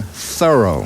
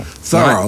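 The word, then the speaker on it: Thoreau: we pronounce his name thorough thorough like a thorough job we live in an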